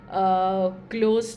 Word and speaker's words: Cloze: भी जानते हैं guys this might pronounced as like क्लोज but spelling में वो जेड होता है है एस नहीं होता है so don't get confuse this is called क्लोज passage okay और क्लोज